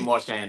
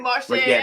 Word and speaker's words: Marchand: French thing, you got to say Percy Jean-Pierre Marchand. Marchand? Yes, ma'am. Sounds Okay. We usually say Marchand, though. Oh, okay, But yeah, Marchand. that's the proper pronunciation.